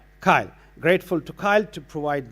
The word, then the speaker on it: CILE: And also, we were told that the correct pronunciation is it CILE? CILE.